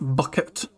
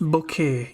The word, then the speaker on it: Bucket: You know, Hyacinth Bucket. Although she, she was like she wanted to be, proper. She wanted to be posh, so she pretended her name was pronounced Bouquet, even though it's spelled bucket.